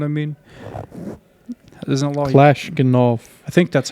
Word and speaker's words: Kalashnikov: Kalashnikov. I think that's how you say it. I'm just trying to say it as best as I can say it. I think it's Kalashnikov.